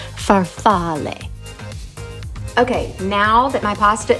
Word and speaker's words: farfalle: looked it up and the Italian pronunciation for the pasta is farfalle okay now that my